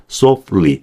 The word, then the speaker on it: softly: 그래서 T 발음을 아예 안 해버립니다. 이런 경우에는 이렇게 함부로 이렇게 모음을 넣어버리면 안 돼요. 그래서 softly가 아니라 softly 이런 식으로 발음을 해준다는 거예요.